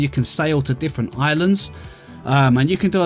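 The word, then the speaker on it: Ylands: might know it as a violence because it starts with a y rather than an eye but it is actually pronounced islands and i think the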